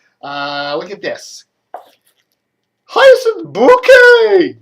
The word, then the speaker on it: Bucket: how you all doing everybody uh look at this hyacinth bouquet it's spelled bucket but she says hi isn't the bouquet keeping